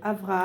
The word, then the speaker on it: Avraham: doit dire le nom, on doit dire Avraham. Avraham, exactement. Un même point. Celui qui monte à la Théba, Absolument. Qui porte ce prénom, bien prononcé, bien prononcé, Avraham.